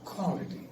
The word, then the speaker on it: quality: It's always quality, not quality. It's quality. You got round your lips before you pronounce. Quality.